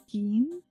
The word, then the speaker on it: Jin: favorite nostalgic series, so Jin as in gin and tonic.